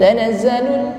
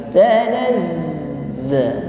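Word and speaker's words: تَنَزَّلُ: Huruf zain berharokat tasydid, maka ditekan membacanya. Bukan tanazzalun, tetapi tanazza.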